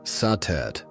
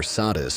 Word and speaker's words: Satet: Before the great names of Isis or Hathor filled the temples of Egypt, there was Satet, pronounced Satet or Satis by the Greeks.